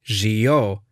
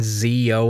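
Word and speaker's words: Zi-O: Maybe you could get away with Forze and Zio in English since that's how they appear, but there's a huge difference between their intended English pronunciations and what it appears to be.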